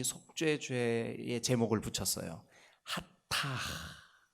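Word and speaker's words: חטאת: 하타 이렇게 발음하거든요. 하타 혹은 sins 그래고 하타트라고 발음하기도 합니다.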